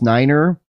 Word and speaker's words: niner: is pronounced four third nine is pronounced niner and the reason is nine is niner because in german nine means no and uh even better